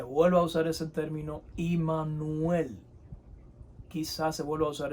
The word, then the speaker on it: Imanuel: hoy hemos aprendido que la palabra Emanuel no es la más correcta lo más correcto es en cuanto a pronunciación y ha significado es imanuel o sea Dios con